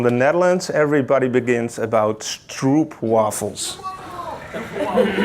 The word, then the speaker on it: stroopwafels: How do you pronounce it? I'm Dutch. Stroopwafels.